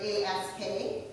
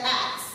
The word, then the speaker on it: ask: So I said axe. You know, this is a very common way that Black Americans say that word. And so my teacher, the coach, like, looks at me and she's like, no, it's ask. The S is before the K.